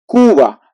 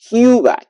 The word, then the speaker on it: Cuba: you can see that the pronunciation would be Kuba it's not like some people in English would say Cuba Cuba no it's Kuba Kuba okay then we have